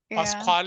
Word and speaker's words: Pasquale: your last name is Pascal pasal Pasqual is that how you say it yeah okay so okay I